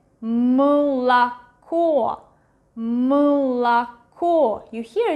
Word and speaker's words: молоко: But this one is one more syllable like before the stressed one, so it's not really pronounced as A, but something in between U and E, молоко, молоко.